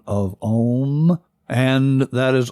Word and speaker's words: om: the Sanskrit sound of om and that is often mispronounced as M but the sound is om and chanted it sounds